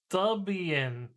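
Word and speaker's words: Debian: It's pronounced Dubian.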